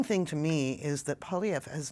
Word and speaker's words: Poilievre: So I like the pronunciation of his name. Poilievre, I believe. Poilievre.